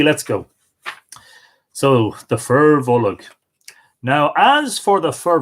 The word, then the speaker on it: Bolg: Other words like Bolg with a secret extra syllable: Barbara, Folav, Lanav, Marav, Jarfa, Donacha, Shelig, Jarug, Aragad, Dorka, Colum, Anium, which is name, Gorum, which is blue, isn't it?